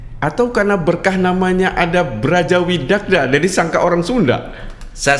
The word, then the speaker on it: Brajawidagda: Tapi namanya dulu kan harusnya ejaannya Widakdo. Iya. Tetapi dulu pilihannya pakai A atau O karena lafal O kalau di huruf Jawa, di bahasa Jawa itu tulisannya A. Jadi di tulisannya A tapi harusnya melafalnya Widakdo.